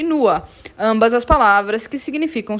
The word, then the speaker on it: nur: Atenção para a pronúncia de nur, é como se tivesse um azinho no final, né?